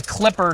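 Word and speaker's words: Qlipr: system, but this is the Clipper trellising system. It is uh QL IPR is how it's spelled.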